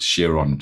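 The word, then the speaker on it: Chiron: and rory speaking about i pronounce it kiron but shiron sounds just as good the wounded healer you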